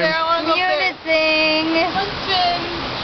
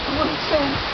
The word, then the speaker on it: Munising: Munising. Munising.